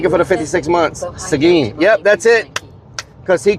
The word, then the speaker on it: Seguin: Seguin. Yep, that's it. Because he couldn't pronounce Seguin right.